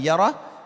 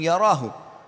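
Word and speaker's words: يره: Wa man ya'mal mithqala dzarratin syarran yarah. Kalau diberhentikan bacanya yarah, tapi kalau dibaca langsung yarahu.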